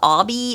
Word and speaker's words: Abhi: Entre then I love a place called Obby it's spelled abhi and it is in